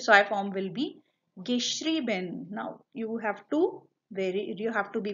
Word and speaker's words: geschrieben: while writing this spelling, because it is in the first one schreiben, E-I, but in the participle so I form it has become I-E. That is why the pronunciation as well changed. Geschrieben.